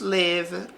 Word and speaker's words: live: Então, atenção aqui para o verbo porque esse i ele vai ter som de e para não confundir com o verbo leave, de sair, partir, deixar.